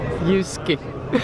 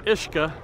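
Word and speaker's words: uisce: you pronounce it so right you pronounce it ishka ishka is is the root word for ishka Baha which is whiskey so ishka is whiskey ishio is living water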